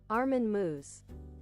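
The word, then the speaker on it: Meiwes: Armen Moose. Moose. It's pronounced moose.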